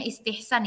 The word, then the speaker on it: istihsan: Nah, jadi kalau mazhab Imam Ahmad itu dia menjadikan istihsan, ini bacanya istihsan ya, istihsan sebagai salah satu sumber hukum.